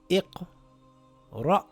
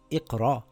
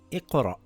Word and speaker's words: إِقْرَأْ: It reads iqra. Iqra. So it's not iqra. You have to pronounce the hamza with a sukoon. It's like a half an a sound. Iqra.